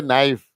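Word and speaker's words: knife: अपन पिटते हैं जैसे नाइफ के एन आई एफ ई इसमें के हमेशा साइलेंट रहता है के एन ओ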